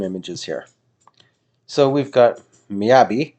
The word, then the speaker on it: Miyabi: here so we've got miyabi not miyagi this is not karate kid it's not mr miyagi miyabi which is vibrant